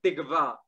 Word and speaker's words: tikva: Se dice tikva, tikva.